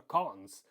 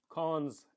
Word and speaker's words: cons: So when you say X double colon, okay, colon or double colon, I call it, okay, or cons, actually that's a better way to pronounce this. X cons XS, okay, that's how I should say.